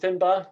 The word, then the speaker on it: Finbar: Is it Finbar? Is that correct? Yeah. Have I pronounced it correctly?